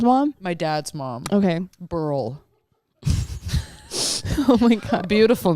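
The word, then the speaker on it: Beryl: Burl.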